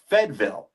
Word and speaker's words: Fayetteville: And then furthermore, my in-laws being from North Carolina, born and raised, but it's not Fayetteville. They pronounce it Fedville.